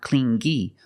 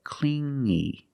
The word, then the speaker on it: clingy: he was too clingy you hear the sound only the nasal sound here no G not clingy but clingy clingy he was too clingy